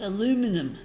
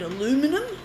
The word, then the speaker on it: aluminum: Like the Australians, we call aluminium, and the Americans call it aluminum.